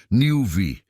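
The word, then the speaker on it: NeuV: Esse é o conceito do Honda Nelve. Pronuncia-se Newv.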